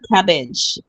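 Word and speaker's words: CABG: So they may call this cabbage. It may be referred to as cabbage cabbage in the in the hospital. If you hear the somebody a medical practitioner says cabbage, this is what they're referring to and it's coronary artery bypass graph.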